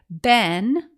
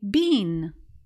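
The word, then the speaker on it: been: our location for example in America most people say this word as Ben while those in the UK say Bean now to be fair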